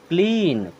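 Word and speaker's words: clean: लीन क्या पढ़ते लीन क्योंकि जहां ई और ए आता है उसका उच्चारण बड़ी ई की तरह किया जाता है और जब सी आ गया तो इसे हम क्या पढ़ेंगे क्लीन और क्लीन मीस होता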